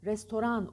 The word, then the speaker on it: restoran: banyo Doğan aynı şekilde Restoran Restaurant yazılır Restoran okunur restoran restoran Restaurant Merhaba e